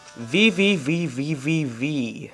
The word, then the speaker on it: VVVVVV: Then VVVVVV. That's right. That's how you pronounce it. 6 V's.